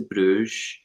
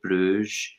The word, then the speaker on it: Bruges: i get sent to bruges by the way the way that we pronounce that and flemishes and dutches believe it or not and i can't believe i just said bruise i'm horrified with myself